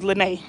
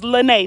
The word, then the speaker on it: Lynnae: they call me elena my name is lenay yeah i say i'm the one over here you literally yeah i don't even know how to pronounce my name it's lynnae not lena queen lena so with